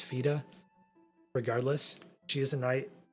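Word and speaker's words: Fyda: It's spelled F-Y-D-A, and I've traditionally said Fida, but I'm told it's Fida.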